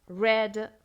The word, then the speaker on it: read: Read, infinitivo, read, pasado simple, read, otra vez con la misma pronunciación, el pasado participio.